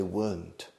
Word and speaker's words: weren't: The British would say weren't. Menos R, weren't. We don't say in English weren't. 2 syllables, it's 1 syllable, weren't.